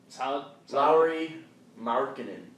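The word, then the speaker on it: Lauri Markkanen: one oh chair down there we go yeah low marinan is how he pronounced that Lowry marinan minck minck Jared alen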